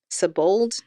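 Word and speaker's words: Sebold: versed on this yeah so her name is Alice sabold I believe is how you pronounced her last name oh trigger warning sexual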